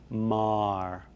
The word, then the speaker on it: Maher: in the united states mar as though it were m-a-r the the name now that is spelled m-a-h-e-r or m-e-a-g-h-e-r maher this